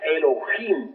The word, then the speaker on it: Elohim: Ahora, Elohim es una palabra que se escribe con H, Elohim, que se pronuncia Elohim, porque la H suena como J, y significa diosas y dioses.